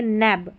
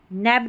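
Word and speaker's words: nab: यहां पर देखें नैब। नैब का मतलब होता है पकड़ लेना। नेब नहीं बोलेंगे। नैब।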